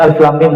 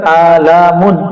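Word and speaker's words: الم: masih bahasa bumi, sedangkan Alif Lam Mim bahasa langit, ya. Semua orang Arab bingung. Kita alhamdulillah diizinkan Allah Subhanahu wa taala mendapatkan ayat-ayat seperti ini. Dan dibacanya bukan alamun. Alamun artinya penyakit, sakit.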